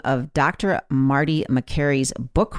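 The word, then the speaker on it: Makary: name of dr marty mccary's book wrong it's the price we pay not whatever i said but i also mispronounced his name it is mccary not macri and for clarity in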